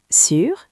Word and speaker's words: sur: Le premier mot sûr comme tu le deuxième mot sous comme vous.